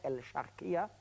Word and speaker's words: El Sharqiya: Même, c'est pas loin du Sharqiya, le gouverneur de Sharqiya, là où il y a Sharqiya, voilà, ça je l'ai prononcé en égyptien, El Sharqiya.